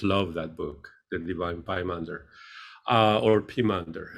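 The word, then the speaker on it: Poimandres: piemander uh or pimander it really is poemander poymandress in in if you spell it in in greek is a poi uh hi omicron iota so that's poi right like point so if you remember point point mander it's very simple so so um so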